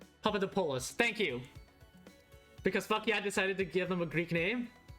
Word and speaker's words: Papadopoulos: Last name is pronounced Papadopoulos. Papadopoulos.